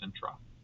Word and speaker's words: intra: I keep saying I say it so fast it sounds like I'm saying inter but it's intra.